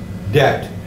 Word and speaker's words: debt: is it debt yeah debt notice no B sound okay silent B itch it sounds like